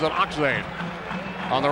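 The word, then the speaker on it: Achtzehn: off now to Dana spells that name a-c-h-t-z-e-h-n pronounces it oxen on the right wing Rick Roberts number four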